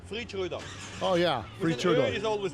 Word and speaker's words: Freidschröder: It's hard for everybody to pronounce it. It's Freidschröder.